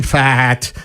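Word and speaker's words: Pfaadt: Uh, Brandon Fat has been pitching great. That's my favorite name in all of baseball. P F A A D T stupid fat. The P is silent.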